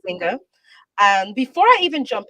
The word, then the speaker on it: Nzinga: should we call her Nzinga, Jinga, Or Zinga. or Zinga? Well, the N is silent. I know the N is silent. The N is silent. So I would say it's Zinga. Zinga.